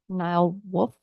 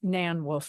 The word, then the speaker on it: Nan Wolf: on the list is Nile wolf sorry if I got your name wrong uh it's Nan wolf Nancy wolf 303 and a half